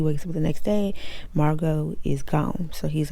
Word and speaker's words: Margot: She says, my name is Margot. The T is silent. And he said, hi, Margot, with the silent T.